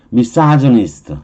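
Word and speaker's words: misogynist: 그래서 발음은 가이네로 발음 안 해요. 이건 영어식 발음이니까 다음에 Y가 나왔잖아요. 보통은 영어 발음일 때는 I 쪽의 발음은 약 발음이잖아. 약한 발음이면 강한 그루 발음이 안 되고요. 약한 즈의 발음을 하는 거예요.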